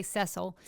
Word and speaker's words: Cecil: You know that Ceil they that's how you pronounce it or that's how they I always say Cecil but they say Ceil and Ceile the lion